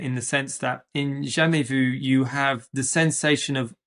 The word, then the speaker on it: jamais vu: So the one that I'm familiar with, which I'm going to butcher the crap out of the pronunciation, is Jamais Vu? Yeah, Jamais Vu, yeah.